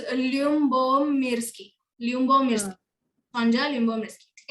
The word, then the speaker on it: Lyubomirsky: एल से था भाई उसका लास्ट नेम, तूने बी से अभी कुछ तो बोला. You remembered. Okay, it is Lyubomirsky.